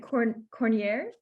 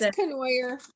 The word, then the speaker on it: Canoyer: do you pronounce it Cornier? I probably killed your last name. I'm sorry. It's Canoyer.